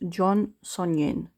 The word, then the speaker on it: Jeon Seonjin: So, this is how you write it in English. And if I'm correct, it's pronounced Jeon Seonjin. So you don't pronounce the E, basically.